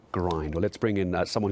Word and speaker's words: Grynd: never been done before again um it's called grind now this is going to be down the